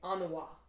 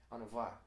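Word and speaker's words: an-mhaith: Instead for saying very good, I'd say anawa. Mm-hmm. What would you say? Anava. So the MH is always like a V sound.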